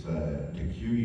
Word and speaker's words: Deque: It's DeQue University. It's spelled D-E-Q-U-E, and then university.